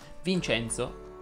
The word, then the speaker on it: Vincenzo: con la è chiusa vincenzo enzo lorenzo chiedono invece la è aperta giorgio si pronuncia con